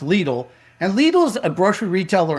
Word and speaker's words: Lidl: A lot of people think it's called Liddell. It's pronounced LLE.